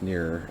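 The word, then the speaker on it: Nier: This setup kind of reminds me of Near Automata. That's how you pronounce it.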